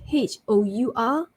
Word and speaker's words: hour: Next one, silent H for HEIR and HOUR. So it's air, air, and hour. So it's not hair or hour.